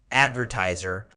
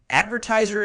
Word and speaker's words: advertiser: the day comes in Advertiser word type Advertiser is a noun it's pronounced adver Zer with the stress on the second syllable meaning an Advertiser is